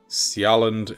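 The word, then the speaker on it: Sjælland: Denmark is split into two, into Sjaland and Jylland. I think that's how you pronounce that. S-J, A and E running together. L-L-A-N-D. And then up here we got kind of notifications of important things going on.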